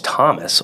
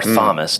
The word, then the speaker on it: Thomas: Nice, because I have my real name's Thomas or Thomas, depending on if you want to pronounce the H.